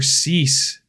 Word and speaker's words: Cease: uh Burger so Arroyo Bello and burger for cease cease shoot I never know how to say